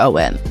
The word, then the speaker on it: Eoin: And Owen is spelled E O I N.